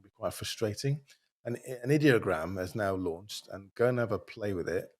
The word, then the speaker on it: Ideogram: this actually or um I I pronounce it idiogram but they say it's ideogram so with ideogram.ai and